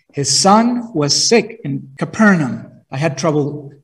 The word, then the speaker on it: Capernaum: was in Canaan his son was sick in Capernaum I had trouble pronouncing that I want to say capernum but that it's totally wrong it's capernum the official heard that Jesus had returned from